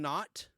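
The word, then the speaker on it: Naught: Hello to Citizen Not. Not is spelled N-A-U-G-H-T, like an Argonaut or an astronaut.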